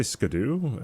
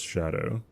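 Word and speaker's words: Scadu: Well, one, you're not supposed to say it like that anyways. It's supposed to be Shadow or Shadow. People just say Skadu because that's what it looks like. But what it actually is, it's just Shadow.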